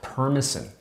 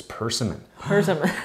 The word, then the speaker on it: persimmon: to gen as a permasen like almost like permission but that's backwards it's persimmon i only found out